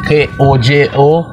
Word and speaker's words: Kojo: on this monument jessie k o j o r c u d j o the k o j o is the african way of pronouncing kojo and the c u